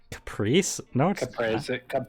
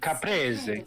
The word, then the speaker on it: Caprese: couples are crazy wait Caprice Caprese salad yeah with mozzarella that's how you pronounce those words yeah to Matt demand